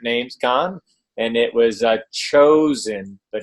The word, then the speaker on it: Chozn: we were at namescon and it was a chosen but it's spelled c-h-o-z-n dot-com chosen c-h-o-z-n got your way